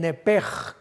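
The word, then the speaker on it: נפש: literalmente en el hebreo nepech, pero la CH se pronuncia como J en el hebreo. Entonces podríamos decir que se le salió el nepej con J.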